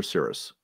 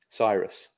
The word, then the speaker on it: Cyrus: the brits pronounce it did you pronounce it cyrus or cirrus cyrus so cyrus also has